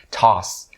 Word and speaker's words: toss: So the word toss, it has the long R sound, so toss. Okay, and it ends with an S sound, so it's really important